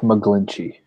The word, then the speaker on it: McGlinchey: Mike McGlinchey. There we go. Literally how it says.